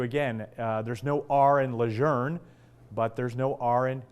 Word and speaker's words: Lejeune: be called Camp luzerne retired colonel michael kasprzak spent most of his career in the Marine Corps saying Camp Lejeune he says that's what he was taught but he says camp luzerne now it's historically correct and it's consistent with